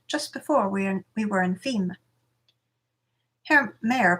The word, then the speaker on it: Fismes: The battle is said to be coming to an end, just before we were in Fimes. Herr Mayer pronounced Fismes.